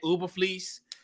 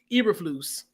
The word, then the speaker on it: Eberflus: a part of that young Bears defense, Matt Uberfleece. I think I said his name right. I think it took me like 14, 15 months to kind of pronounce his name correctly. Eberflus.